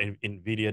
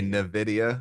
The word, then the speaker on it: Nvidia: know about Nvidia now probably said that wrong wasn't coming after like like doing good things no you actually said it right A lot of people say Nidia which really grindes my gar go ahead so what